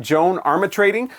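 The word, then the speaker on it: Joan Armatrading: Um, and so I actually had to watch a video interview with her just to know how to correctly pronounce her name. Joan Armmitrading.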